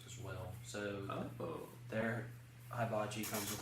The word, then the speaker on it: hibachi: Hibachi. Hibachi. Okay. It's a Japanese guy, he knows. That's the Japanese pronunciation. H-I. Every I is E. So be hibachi.